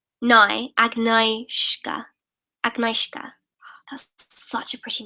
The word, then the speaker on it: Agnieszka: Okay, Agnieszka is pronounced Agnieszka.